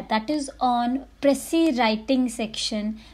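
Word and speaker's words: précis: Many people pronounce it प्रिसाइज writing. So guys, पहली चीज़ कि ये प्रिसाइज राइटिंग नहीं होता है, ये प्रेसी राइटिंग होता है. सो बी केयरफुल जब आप इसे बोलते हैं.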